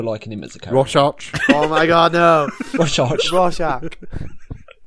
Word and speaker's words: Rorschach: It's Rorschach.